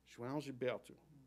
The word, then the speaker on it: João Gilberto: The opening consonant J sounds like Zsa Zsa Gabor, or the OAO form a diphthong, kind of like ow with a swallowed ending.